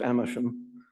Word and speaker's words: Agmondisham: And it came to a head in 1592 when John Agmondisham, I think it's pronounced Amersham, another bencher of the Middle